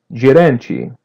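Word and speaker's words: gerente: The n is a light n and letter t is pronounced as chi. Geranchi.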